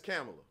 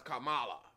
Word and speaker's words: Kamala: manipulate her name is camela see you pronounce Kamala the Ugandan Giant Kamala is a wrestler